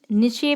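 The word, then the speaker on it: niche: से कहा जाता है, इसका प्रोनाउंसिएशन होता है निचे मार्केट या नीस मार्केट, आप जो भी बोलना चाहें।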